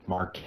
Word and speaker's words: Marquez: is pronounced Marque by the way forget that Z exists so Marque marqu I'm in a phonus